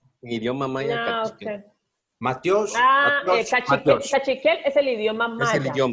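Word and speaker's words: matyox: Matiosh. Ah, igualito como lo dijo Mike. Matiosh. Otra vez, ¿Cómo? Mario, otra Pero se vez. escribe cachiquel. No, Matiosh se escribe M-A-T-Y-A-X.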